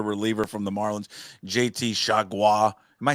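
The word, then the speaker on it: Chargois: They just had a reliever from the Marlins, JT Chagua. Am I saying it correctly? You got it. Chagua.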